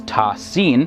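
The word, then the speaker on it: طس: and sin which are written as single unit and pronounced together as ta sin the first letter appears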